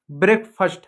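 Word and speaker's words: breakfast: तो ब्रेकफास्ट है। ठीक है? देखो क्या है? ब्रेकफास्ट। फास्ट नहीं है। फर्स्ट है। ए साइलेंट होता है। ब्रेक फर्स्ट है। फास्ट नहीं।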